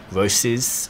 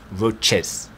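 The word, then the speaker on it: Roces: gonna make the list and I say roses because that's how we always say here stay here at the shop but I know the real pronunciation for all the commenters below is roaches and that's how the Italians want you to say it but I am definitely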